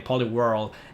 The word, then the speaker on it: Poliwhirl: How do you pronounce Poliwhirl? Such a weird name. Poliwhirl.